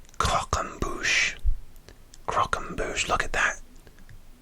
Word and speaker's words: croquembouche: Number 6, croquembouche.